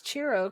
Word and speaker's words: Ciro: My understanding is that it's Ciro because it's Italian.